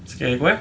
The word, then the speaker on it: Skagway: Skagway. Thank you, because I pronounce it wrong or 3 different ways all the time.